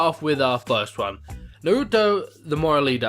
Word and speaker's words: Norito: Norito the Moral Leader. I don't think it's pronounced Naruto, but it looks like Naruto, and we all know what Naruto is.